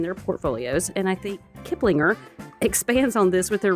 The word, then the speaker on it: Kiplinger: which I think is the correct way to pronounce that. Kiplinger.